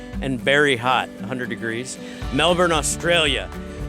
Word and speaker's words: Melbourne: very hot 100 degrees Melbourne Australia which is not pronounced male born I think it's pronounced Melbourne I can't say anything